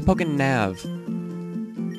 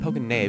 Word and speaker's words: PokéNav: Well, it's a it's a Pokénav. Is it? Yeah, it's a Pokénav. I've been pronouncing it Pokéné because it looks like a Y, not a V. So I'm pronouncing it wrong the whole entire time.